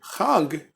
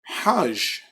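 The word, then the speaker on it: חג: So, Jews of the Yemenite persuasion and the Mizrahi persuasion, instead of pronouncing this word Chag, they pronounce it Hajj.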